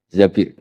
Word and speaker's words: Zabir: Di hadis ini bukan bacanya bukan Zubair, tapi Zabir.